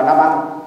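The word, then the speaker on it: Nabal: Mà hiện bà anh em, tôi thấy mấy ông cụ xưa mình dịch ra chữ N-A-B-A-L là nê bò đó, thì đọc là Na-banh, tức là banh xác.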